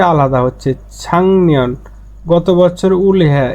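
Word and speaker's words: 작년: এই যে গিয়কের পরে নিয়ন আসলে এই গিয়কের উচ্চারণটা ইয়ং হয়ে যায়, ইয়ং ইয়ং উচ্চারণ হবে ছাংনিয়ন, ছাংনিয়ন, ছাকনিয়ং না হয়ে ছাংনিয়ন মানে গত বছর।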